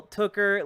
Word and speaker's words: Tooker: Oh, not your name rhymes with hooker, not snooker. Gotcha. Well, Tooker, Levi Tooker, thank you for your patience.